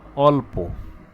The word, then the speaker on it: অল্প: সংবৃত একটু এক্সাম্পলে যাই আমরা যদি বলি যে অল্প আমরা কি এটাকে কি বলছি অল্প বলছি না অল অল্প তাহলে অচ্চারণ হয়েছে না ও তার নিজস্ব উচ্চারণই কিন্তু হয়েছে তাই এটার নাম নাম বিবৃত উচ্চারণ আবার যদি বলি আমরা